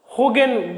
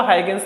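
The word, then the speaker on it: Huygens: के साइंटिस्ट थे, तो उसका नेम वैसे तो डच होगेन बोलते हैं, मतलब होगेन, हो HUI हो, ऐसा प्रोनाउंसिएशन उसका इस तरीके से होता है, लेकिन हम इसको हाइगेन नॉर्मली कह रहे हैं।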